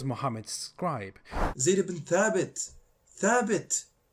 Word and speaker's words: Thabit: Thabit, not Thabit.